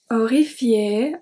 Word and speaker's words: horrifié: Horrifié, horrifié, horrified. Don't forget that we do not pronounce the H at the beginning of a word in French. So it's horrifié, we start with the O.